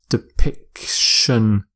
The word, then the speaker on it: depiction: you say depiction depiction note the different pronunciation there depiction and some synonyms for